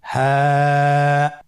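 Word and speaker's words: حاء: হা হরফটি উচ্চারণ ক্ষেত্রে অবশ্যই বারিক হবে এবং 1 আলিফ টেনে পড়তে হবে। আপনারা আমার সাথে বলুন হ্যাঁ। হ্যাঁ। হরফটি উচ্চারণের স্থান কণ্ঠনালীর শুরু হতে, অথবা আমরা যদি আরবিতে বলি হলকের শুরু হতে এই হরফটি উচ্চারিত হয়। কণ্ঠনালীর শুরু থেকে উচ্চারণ করুন হ্যাঁ।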